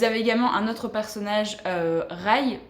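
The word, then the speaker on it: Rhy: Vous avez également un autre personnage, Rai. Enfin, moi je le prononce comme ça parce que c'est R-H-Y. Moi je ne dis pas Ri, sinon ça serait très bizarre.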